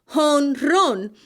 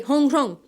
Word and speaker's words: jonrón: started playing baseball games, they pronounce home run, honron. And that's actually how it is spelled and said to this day. So if you ever want to say home run in Spanish, just say honron.